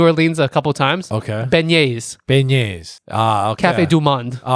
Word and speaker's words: beignets: I can't pronounce Beignets? Bagnets? It's not bagnets. That's literally, you should put B in front of a magnet, bro.